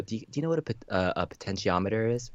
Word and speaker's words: potentiometer: about within the comments and it's like it's pronounced potentiometer and I was like again I was just